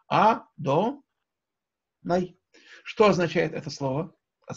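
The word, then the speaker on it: אֲדֹנָי: Никогда это имя не читается так, как оно написано. Ни вот так, две буквы «Юд», ни, как я сказал, тетраграмматоном, а как мы читаем его благословении, так, как вы слышали, да? «А-до-най».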